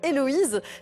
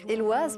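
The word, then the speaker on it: Éloize: à tort le cirque Héloïse. Mais il faut savoir que ça se prononce Éloise parce que c'est un vieux mot de patois acadien qui signifie éclair de chaleur.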